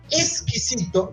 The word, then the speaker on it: exquisito: Exquisito con S, ujú. portugués, es algo extraño, Sí, o está diferente. feo, o alguna cosa así. Y con X, que se pronuncia exquisito también con S, muchas veces, Ujú, es algo rico y gustoso.